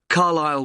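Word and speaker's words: Carlisle: and your address 45 carile way could you spell carile for me sorry it's c a r l i s l e you don't pronounce the s carile way and that's in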